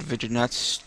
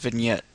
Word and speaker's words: vignette: on how to add video nuts to layers or two to images or the it's it's pronounced vignette and um this is